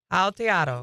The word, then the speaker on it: Aotearoa: It is said as Aotearoa. Aotearoa.